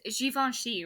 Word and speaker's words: Givenchy: It was Givenchy, right?